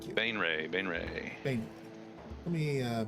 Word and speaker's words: Baenre: I just looked up how to pronounce it because you pronounce it b a n e {dash} r a y like ray gun.